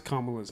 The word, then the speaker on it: Kamala: Hey, way to pronounce Kamala's name correctly.